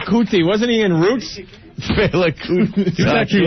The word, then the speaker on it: Fela: I don't even know how to pronounce it. It's Fela.